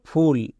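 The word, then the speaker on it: full: আমরা কি করি ফুল আমরা তো জানি ইউ এর শর্ট সাউন্ড আ এবং লং সাউন্ড ইউ কিন্তু এখানে ইউ এর জন্য হস্তুকার কেন হচ্ছে এর ক্ষেত্রে নিয়ম ছিল ইউ এর পরে যদি ডবল এ থাকে তখন ইউ এর জন্য হস্তুকার বই তাই এখানে হলো ফুল ইউ এর পরে ডবল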